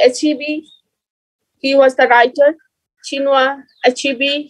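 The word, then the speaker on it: Chinua Achebe: he was the writer chinua achibi he was the writer you have to pronounce it in that way the pro of pronouncing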